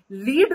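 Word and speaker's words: lead: guide करना ठीक और दूसरा जो ये स्पेलिंग है एल ई एडी इसको हम क्या बोलेंगे इसको कैसे प्रोनाउंस करेंगे इसको प्रोनाउंस करेंगे लेड लेड का मतलब होता है मेटल तो यहां पे फिर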